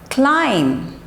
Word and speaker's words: climb: Okay, this sound is silent. Okay, next is numb. Say it, numb, numb. Climb, climb, climb, not climb, climb.